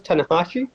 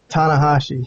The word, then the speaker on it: Tanahashi: Japanese guy what'd you say his name was tanakashi tanahashi Hiroshi tanahashi yeah I mean I don't know